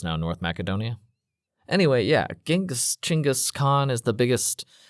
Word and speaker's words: Chingis: Chingis is the Mongolian pronunciation of Genghis. Yeah, Genghis is the westernized version of his name.